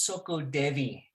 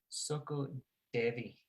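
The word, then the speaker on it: SOCODEVI: case anyone wants to look it up it's soco devi soko devi how do you spell that s o c o d e v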